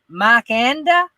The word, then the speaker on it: Mikanda: is their name but it's mikanda m-i-k-a-n-d-a is how their channel name is pronounced they are awesome and